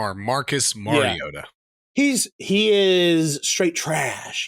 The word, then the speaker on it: Mariota: Remember, it's Marcus Mariota.